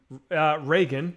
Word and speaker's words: Reagan: It's what happened when, Reagan, but sure.